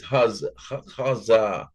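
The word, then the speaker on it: חָזָה: It's pronounced like this, Hazah, but it's spelled.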